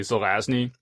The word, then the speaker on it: Zelazny: so simple but then I just found out like a year ago it's actually Zelazny and so now I have to sort of mentally concentrate to say it right every time now yeah there's the